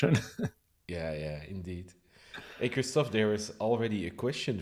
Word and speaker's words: Christoph: yeah yeah indeed hey kristoff there is already a question for you in the uh in the chat let me put it on christoph of christopher it's kristoff i think is there any reason